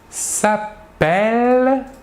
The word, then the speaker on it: appelle: prononce est alors que le E suivi d'un seul elle se prononce je vais vous répéter la troisième personne du singulier et la première personne du pluriel nous dirons il s'appelle par contre nous dirons